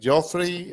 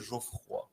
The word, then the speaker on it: Geoffroy: ¿Geoffrey o algo así? Bueno, con la buena pronunciación se dice Geoffroy.